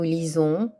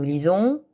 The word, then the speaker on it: lisons: Nous lisons. Vous lisez. Il lisent ell. Attention à la prononciation du S. Le S placé entre deux voyelles se prononce Z. Nous lisons, vous lisez, ils lisent, elles lisent.